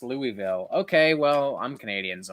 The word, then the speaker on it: Louisville: ] on Jamie easy bait coven it's actually pronounced Louisville okay well I'm Canadian so I don't care